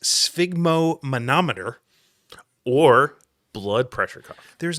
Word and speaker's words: sphygmomanometer: So this word here has more syllables than should be permitted in a single word, but I believe it is pronounced sphygmomanometer.